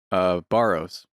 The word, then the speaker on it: Sbarro: Barrows. Okay. Barrows. Pizza. Sabaros? Yeah. Yeah. I S. S is silent.